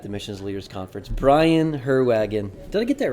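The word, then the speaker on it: Heerwagen: It's a Dutch-German spelling. Sounds German, apparently looks Dutch.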